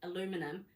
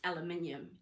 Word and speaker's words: aluminium: But then you've got American English, we've got Kiwi English, but really it's like how you say aluminum, that's not the way it is. It's aluminium.